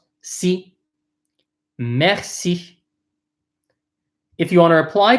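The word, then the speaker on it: merci: just in case thank you messy messy messy meth see so the first syllable the m ER is pronounced math the CI is pronounced see meth see if you want to apply to thank you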